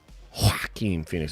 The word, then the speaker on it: Joaquin Phoenix: That's the one with Joaquin Phoenix, right? Joaquin Phoenix. I think that's what you got to pronounce it that way or you're doing it wrong.